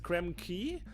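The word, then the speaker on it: Krem Quay: Arcanu says it's pronounced key, apparently. Key? Oh. What do you mean? Like Bayou? Or, oh, Quay? Oh, is it Krem Key?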